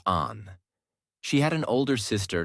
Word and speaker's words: Anne: People called her Anne, pronounced Anne.